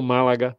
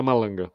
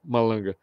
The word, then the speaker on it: Malanga: Conrado Málaga, né? Do Málaga, do italiano. Malanga, né? Na verdade, se pronuncia Malanga, tá? Malanga.